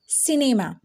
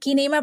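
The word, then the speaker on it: cinema: pronunciation के बारे में तो सी के बाद जब भी आपको आई ई वाई दिखे तो वहां पे उसकी प्रोनंसिएशन हो जाएगी चेंज अब वो सी से क्या बन जाएगा सा बन जाएगा जैसे कि आप जानते होंगे सी से का भी बन है फॉर एग्जांपल सिनेमा अब देखिए इसको क्या पढ़ रहे हैं हम किनेमा पढ़ रहे हैं जी बिल्कुल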